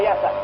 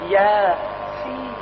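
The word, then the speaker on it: يس: Tidak dibaca hama, tidak dibaca yasa, tapi Yasin.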